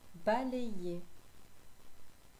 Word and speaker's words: balayer: Balayer. Balayer. Balayer s'écrit avec un Y, car le Y prend la place de deux I.